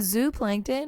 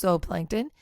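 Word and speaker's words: zooplankton: 0.00003 parts per million in zo Plankton or could be pronounced Z Plankton you have 0.04 parts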